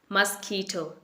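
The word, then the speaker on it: mosquito: आपने मॉस नहीं बोलना है, इट इज मस, मस्कीटो।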